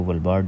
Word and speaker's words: Svalbard: ऑफ वलबर्ट यहां पे यह जो वलबर्ट है यह एस जो है वो इसमें साइलेंट है तो हम जो है व इसको वलबर्ट जो है वो प्रोनाउंस करते हैं इसके अलावा जो है